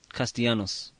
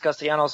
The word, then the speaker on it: Castellanos: You don't pronounce L. How do you pronounce that again, Lim? Castellanos. Castellanos. Not Castellanos. You pronounce it like it's a Y, like it's a Y sound.